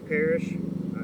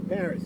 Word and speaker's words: Paris: And but I'm with Coach Parrish. Is that, did I pronounce that correctly? No, Paris. Paris. Like Paris.